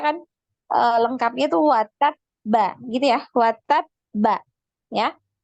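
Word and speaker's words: وَتَبَّ: bacanya kan lengkapnya tuh watab ba gitu ya, watab ba ya. Nah, seperti itu karena ada tasydid, maka ketika sukun ya di wakof di situ maka dinaikkan juga suaranya watab gitu ya, sama ketika lanjut ya di bacaannya dilanjutkan.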